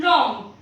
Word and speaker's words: wrong: Again W कब silent होता है? जब भी डब्ल्यू के बाद आ रहा है, just like in रॉन्ग, WRONG, रॉन्ग।